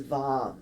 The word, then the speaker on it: vam: the base of your spine and the single syllable mantra the bija mantra for your sacral chakra is vom v-a-m together let's take a deep breath in